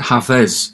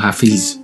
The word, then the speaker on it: Hafez: And by the way, you pronounce it Hafez, not Hafiz, as I sometimes mistakenly say it.